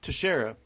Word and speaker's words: Teixeira: How do you pronounce his last name? Teixeira. Teixeira. If you were a true Yankees fan, you would know that because you pronounce it the same way you pronounce your first baseman's Mark Teixeira.